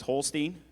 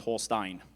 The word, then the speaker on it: Holstein: Rylan, your word is Holstein. It could also be pronounced Holstein.